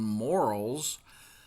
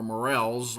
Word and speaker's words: morel: these are the the the very well-known morals um or morels I've heard it pronounced two different ways they have pits that